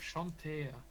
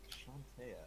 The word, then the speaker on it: Chauntea: serving dishes, and a few religious carvings of Shantea. Of who? Shantea. Weapons. Can you spell that out and say the Shantae part one more time? Chauntea.